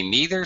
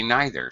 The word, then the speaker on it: neither: Pronunciation-wise, again, English speakers, some say neither, some say neither, some say either, some say either.